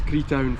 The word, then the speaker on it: Creetown: Is that how you pronounce it? It's Creetown Football Club.